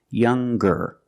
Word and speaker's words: younger: When we change these adjectives with ER or with EST, we're going to pronounce the G sound, the hard G. So it's younger, ger, with a G sound.